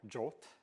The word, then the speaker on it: JWT: about popular formats obviously JWT or jot as it's often pronounced is hands down the